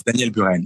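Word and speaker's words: Daniel Buren: and you inaugurate this with personal show of Danielle ban or I don't know how you pronounce yes Daniel ban yeah yeah right who was at the time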